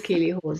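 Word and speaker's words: Keeley Hawes: Is that how you pronounce her last name? I would never have guessed that name. I had her pegged as a Lisa, but it is Keely Hawes.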